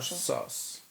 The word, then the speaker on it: sus: Ta wiadomość od nieznajomego była mega sas. Pisze się sus, ale czyta się SAS.